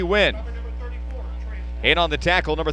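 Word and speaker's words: Nguyen: Wynn's going to go to the right side. He spells it B-I and then N-G-U-Y-E-N. They just say, pronounce it B. Wynn.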